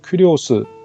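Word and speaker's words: κύριος: 이 부분을 좀 살펴보겠습니다 주는 어 크리오 스 라고 발음을 합니다 이 친구는 여러 대상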